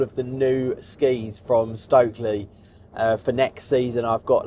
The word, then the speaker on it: Stöckli: am going to the Stöckli Ski Festival. And in fact, I've been told I need to stop saying Stöckli and start pronouncing it Stöckli, or at least Stöckli.